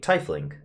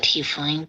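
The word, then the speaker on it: tiefling: it all the time a tifling right is that how you pronounce it i call it t-flame but uh out of respect to you it will be i will call you a t-fling as well please come in um daniel i'm sorry if it's pronounced something else it is pronounced either way yeah okay got it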